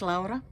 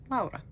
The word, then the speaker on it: Laura: if you're new here my name is laa or Laura l a u r a in Finland we just pronounce it laa but I don't live